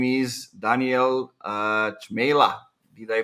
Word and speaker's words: Cmejla: He's working for the brand you already know, I think, from LinkedIn, called Chili Piper, and his name is Daniel Cmejla. Did I pronounce it right?